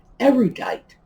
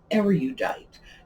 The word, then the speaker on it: erudite: And because you know the word origin, you also know that it's pronounced erudite, rude, not erudite, as some very pretentious and probably erudite people think it does.